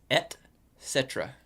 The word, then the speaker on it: et cetera: It's like thought it was- it's et cetera. etc. It's like et cetera. space. I put a C in there.